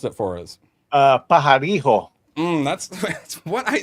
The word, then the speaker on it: Pajarillo: Mark Pajarillo? Oh, wait. Yeah, no, Badger, you're Latino. You pronounce it for us. Pajarijo.